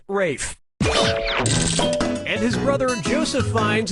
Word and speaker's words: Ralph: three yep Ray finds first name is spelled like Ralph but pronounced Rafe and his brother Joseph